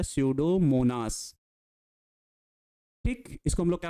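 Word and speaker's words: Pseudomonas: एक जीवाणु है जिसका नाम है सडोमोनास। ई साइलेंट होता है। पूरा पढ़ा जाता है सडोमोनास।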